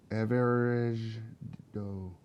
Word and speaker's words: Aver'aj Djoh: Aver'aj Djoh. Aver'aj Djoh. Oh, yeah. That's a good way of saying it. Aver'aj Djoh. Okay, we got a name. Aver, A-J, D is silent, J-O-H.